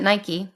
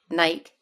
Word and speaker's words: Nike: And then prior to that, she was at Nike, or as you Brits say, Nike, which is really ridiculous. Greek goddess, say no more.